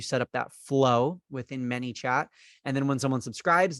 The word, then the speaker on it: ManyChat: the automation for manychat the word manychat people might say many space chat they might type mini chat like m-i-n-i chat because they misunderstand how I'm pronouncing the word they might uh I've someone one time asked am I saying Manny chat like the person's name